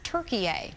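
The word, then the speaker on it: Türkiye: be referred to as turkey a the way it's spelled and pronounced in turkish it's a way to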